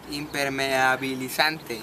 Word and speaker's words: impermeabilizante: Impermeabilizante. Impermeabilizante. Imper. Imper. Imper. Imper. Ajá. Ándale. Imper. Mi. Mi. Bi. Bi. A. A. Li. Li. San. San. Te. Te. Impermeabilizante.